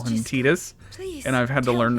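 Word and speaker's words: Tidus: probably it I mean the voice actor who played tetus called tetus so nothing confirmed in person like I got the paycheck to pronounce it tetus it's true it's nothing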